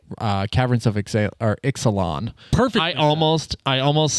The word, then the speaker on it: Ixalan: today for the uh caverns of EX or Exelon per I almost I almost said it wrong